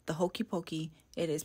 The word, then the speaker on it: poke: need everybody to hear this it is not poke it is not the Hokey pokei it is pronounced poke poke poke now that we